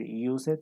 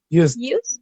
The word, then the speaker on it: used: Aquí, por ejemplo, no vamos a decir used, sino used, used.